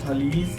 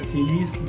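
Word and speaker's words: Thales: Be option درست ہے تھالیس یا تھیلیس، دونوں طرح اس کا تلفظ آتا ہے۔ نظریہ اضافت کس سائنسدان نے پیش کیا تھا؟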